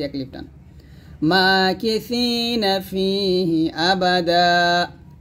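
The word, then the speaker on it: أَبَدًا: টান মাকিসিনা ফিহি আবাদা এখানে আবাদান আছে তবে আমরা থামলে আবাদা বলবো আর এখানে আবাদাও লেখছে কারণ হচ্ছে যে আমরা এটার সাথে এটা মিলাই তাহলে দাও বলবো তো দাও বলবার দরকার না আমরা আবাদা বলবো মাকিসিনা ফিহি আবাদা ওয়ায়ুনযিরুল্লাযীনা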